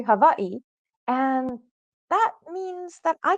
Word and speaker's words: Hawaii: I grew up in Hawaii, and it's not Hawaii, it's actually Hawaii.